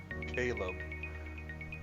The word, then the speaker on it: Caleb: it easy Ticky what's my name is pronounced Caleb well it all depends on where you come from I suppose oh God it's the